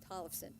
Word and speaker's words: Tollefson: Lenora Tolfas, how do you say your last name? Tollefson, thank you.